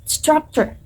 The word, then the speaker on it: structure: Okay, the correct pronunciation is structure. Structure in American English and structure in British English. Again, the differences in the R sound at the end.